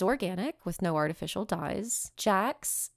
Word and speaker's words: Sjaaks: Jax, but this is spelled SJAAKS, is vegan chocolate.